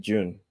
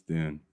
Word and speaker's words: Dune: Dune I call it I pronounce it June well that's wrong it's Dune sure sure sure sure